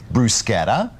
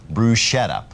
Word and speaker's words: bruschetta: Now, this word is hotly debated here in America because it has two correct pronunciations: brusetta and bruschetta, although I tend to think brusquetta is a little more authentic.